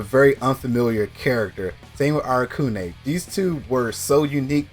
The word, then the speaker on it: Arakune: That is New 13 and Arakili. I think I said his name wrong. Yeah, Arakune.